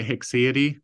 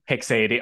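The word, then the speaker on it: haecceity: probably okay I say I usually say hicksidi hexadee okay what can you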